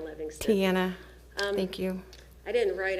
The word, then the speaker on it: Tiena: Did I pronounce that right? It's all right. I'm sorry. I get it all the time. It's Tiena Livingston. Tiena.